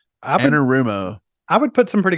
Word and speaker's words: Anarumo: Yeah, so you're saying it's Lou Anarumo, I think is how he pronounces his name. Anarumo.